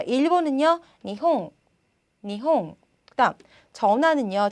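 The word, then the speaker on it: 日本: 그다음 자 일본은요 니홍, 니홍. 그다음 전화는요 자 와행이 왔는데 보니까 電話, 電話, 電話 라는 발음으로 납니다.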